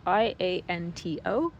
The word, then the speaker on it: Ianto: So Ianto's name is spelled Ianto, Ianto. And it is Welsh for John.